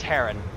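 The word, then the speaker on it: Haran: cgp grey yeah and brady haron yeah it's heron that's who pronounced heron um but the the argument is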